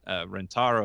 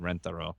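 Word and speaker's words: Rentaro: was was a guy a geeky guy named rent ro is the proper pronunciation but we said renter oh and who was a guy who worked on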